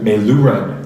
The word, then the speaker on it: Meiloorun: Meiloorun? Meiloorun. Thank you, guys. Putting the emphasis on the wrong syllable.